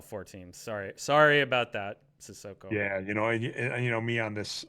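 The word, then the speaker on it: Cissoko: So CD Sissoko, and you get that right, the pronunciation at least.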